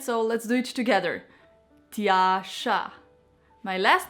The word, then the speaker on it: Tjaša: full name and you might have some problems pronouncing it so let's do it together Tasha my last name is just simply